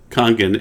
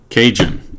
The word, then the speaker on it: Kangen: are wondering what kangan is that's because we pronounce it kangen and you pronounce it cajun or kangen or something weird okay and the